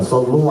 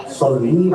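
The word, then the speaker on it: صلّ: Kata seorang kiai itu, seorang syekh itu, Pak, ini sedikit keliru membaca selawat Pak. Karena dia membacanya sendiri, mestinya dia membaca Sholli 'alaihi wa sallimu taslima.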